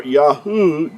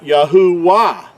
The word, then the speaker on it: Yahuah: This letter, the third letter, Yahuah, it makes the oo sound, not a W sound. So when you put a W in there, it's going to sound like Yahuah.